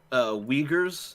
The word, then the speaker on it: Uyghur: coronavirus, and also to limit the amount of Uyghurs that were allowed to speak. Is that the pronunciation?